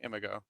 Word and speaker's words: Imago: I pronounce it IMAGO.